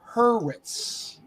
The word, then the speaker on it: Hurwitz: the one who said who said it and pronounced it correctly it is it is justin hurwitz your final question is gonna come in musicals